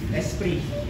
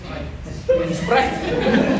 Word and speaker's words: Esprit: Sprite. Di ba ko? Oh, parang, Esprit.